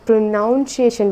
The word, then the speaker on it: pronunciation: सबसे पहले जो हमारा वर्ड है प्रोनाउंसिएशन, आप सभी उसको जहाँ तक है प्रोनाउंसिएशन बोलते हैं, लेकिन वो प्रोनाउंसिएशन नहीं होता, वो होता है प्रोनाउंसिएशन।